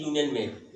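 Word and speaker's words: union: ए यूनियन, वही चीज यूनियन में भी यू लगा हुआ है, वावेल है, लेकिन उच्चारण में यू की आवाज वाई यू आती है, लिहाजा एन का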